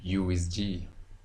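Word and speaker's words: uWSGI: You will hear some people say micro whiskey. You will hear others say whiskey, but I recommend USG. USG.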